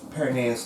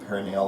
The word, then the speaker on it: peroneus: Now, peroneus longus, right? These are right here. And I've heard it pronounced both perineal longus and peroneus. It's spelled perineal, but whatever, people pronounce things oddly.